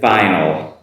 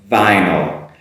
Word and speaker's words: vinyl: twitter after that is vinyl vinyl now this has been done before make sure you make that that v sound and vinyl vinyl not the ee sound i sound vinyl vinyl and the everyone's